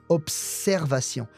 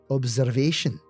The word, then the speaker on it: observation: here for pronunciation sake the S after the B is a strong s observation whereas in English the S sounds like a z observation that's a big difference between English and French observation quite strong sounds